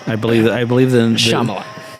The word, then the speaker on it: Shyamalan: Shyamalan. No, it's M. Night Shyamalan.